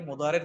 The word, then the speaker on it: مضارع: দ্বারা তো আমরা বুঝতেছি মুদারে শব্দটা হলো বর্তমান ও ভবিষ্যৎকালীন ক্রিয়া বুঝায় একটু আমরা নোটে রাখি বর্তমান ও ভবিষ্যৎকালীন ক্রিয়া আমরা শব্দটা উচ্চারণ করব মুদারে মুদারে মানে হচ্ছে বর্তমান